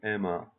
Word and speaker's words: Emma: Chloe, Emma. Fransızca'da çift harfler tek okunur. Ona dikkat edelim.